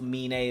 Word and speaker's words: Aminé: to take a listen to amin amin a a mine y'all know i say it differently uh but it is pronounced mean a that's the correct pronunciation um he has a